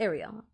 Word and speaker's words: Ariel: It's Ariel. Yeah?